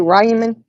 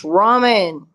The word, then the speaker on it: ramen: call them Rayman noodles it's Ramen Ramen like raw you're telling me the